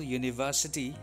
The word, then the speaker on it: university: uncle is a pilot sometimes the first letter in a wood may be a vowel with a consonant sound or a consonant with a vowel sound for example university european and uniforms have the airsound at the beginning so we say a university a european a uniformed similarly